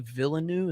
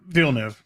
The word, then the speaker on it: Villeneuve: sound the direction of denny is it dilly villanu is that how you say his name phenomenal uh vielnev yeah bill new villeneuve um but yeah so there's some good stuff